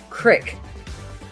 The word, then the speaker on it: creek: Creeks in Montana are often pronounced crick.